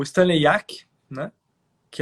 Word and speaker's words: Jaki: Então, o Stanley Yack é um autor, se escreve Stanley Jaki, J-A-K-I.